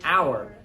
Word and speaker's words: hour: So when we say, I will be here for an hour more. We say an hour because the H is silent.